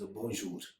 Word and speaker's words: bonjour: Another way to greet someone is, and very common in French, is that is bonjour, which means hello.